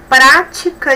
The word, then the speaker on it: prática: A aula prática de matemática foi muito legal. Temos aqui duas palavras proparoxítonas, olha, prática, palavras que tem. Temos aí 3 sílabas, a antepenúltima que é a mais forte.